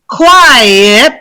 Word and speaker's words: quiet: My Brazilian students have a big problem, and my Spanish speaker students have a problem with quit, quite, one syllable, quiet, two syllables, and quietly, three syllables.